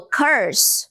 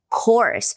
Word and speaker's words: course: Se você falou curse, você falou maldição e não curso, porque a palavra curso é course. So, this is an English course. Esse é um curso de inglês. Rima com horse. Horse, course. Ok?